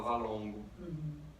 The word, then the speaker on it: VLNGO: Então, assim, se escreve VLNGO, mas se fala Valongo.